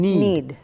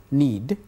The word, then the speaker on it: knead: and EAD aid so here K is silent yes so we pronounce it doesn't need we don't pronounce the letter K need yes to work and